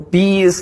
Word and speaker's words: B.I.: Yeah, well, B is like this B and I is like this. This is my eyes.